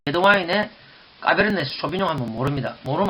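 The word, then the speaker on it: Cabernet Sauvignon: 자, 까베르네 쇼비뇽. 자, 원래 이 발음은 이런 식으로 하면 안 됩니다. 어떤 식으로 하느냐? 잘 듣고 한번 따라해 보세요. 까베르네 쇼비뇽. 까베르네 쇼비뇽.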